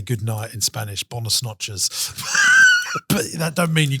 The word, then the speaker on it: Buenas noches: bonos noches. It's the least Spanish sounding. Is he thing the I- English bloke? Me, spreche lingo. Yeah, you say it properly because you're very Buenas noches.